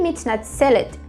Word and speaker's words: מתנצל: Então, o masculino vai ficar mitnatzel, sel. Esse som é som de L, ele vai lá no céu da boca.